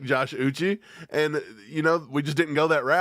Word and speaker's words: Uche: Chris Russell says it's pronounced like Bobby Boucher without the bow. Uche. I don't care if it is Uche. I'm going to call him Uchi.